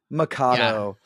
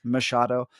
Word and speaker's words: Machado: So it reads as Machado. So I get a lot of like Mikado, Machado. I've gotten a whole bunch of different pronunciations. Yeah. Then my senior year of high school, and all of those, I get it. The CH can be the K sound, and the Portuguese way to pronounce Machado is Machado. So depending on how you know the name, you're going to say it differently.